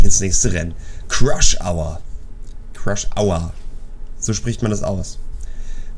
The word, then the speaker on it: Crush Hour: Crush Hour. So spricht man das aus. Weil Crush ist ja zusammen crashen. Das heißt nicht Crash, sondern Crush. Und dann sagt man Hour.